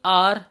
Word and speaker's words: hour: अच्छा, अब कुछ हमारे वर्ड्स है जैसे कि आर, ऑनररी, ऑनेस्ट, तो इसके अंदर ये एच होते हैं, ये साइलेंट होते हैं, है ना।